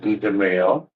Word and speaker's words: DeMayo: Uh and of course Let me I mispronounced it. Give me a second. DeMayo.